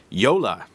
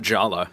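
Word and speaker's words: Jolla: to say it right Yola is how you pronounce it not Jala as I think I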